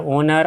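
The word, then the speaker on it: owner: आगे आ जाइए, ये है ओनर। ऑनर नहीं पढ़ेंगे, ओनर प्रोनाउंसिएशन होता है मालिक या स्वामी।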